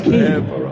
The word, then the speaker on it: Quay: People used to call us Car Quay. If you like Quavers, if you're from Quebec, or if you like Freddie Mercury and you like Queen, you can understand why people pronounce the name of the business wrong. But it's Key, Torquay, New Key, Quayside, Car Key.